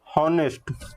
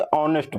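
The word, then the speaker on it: honest: उसके बाद बात आती है हॉनेस्ट। ये बताओ, हॉनेस्ट पढ़ते हो या फिर ऑनेस्ट पढ़ते हो। तो यहाँ पे हम लोग इसको पढ़ते हैं ऑनेस्ट। तो यहाँ पे आपका एच होता है साइलेंट, तो यहाँ पे हम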